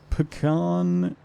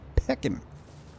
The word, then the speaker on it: pecan: concerned with your hmm Jonah say it rhymes with begone Judy as in be gone bringer of the days pecan of course that's how you would say it I say it like picking um all righty I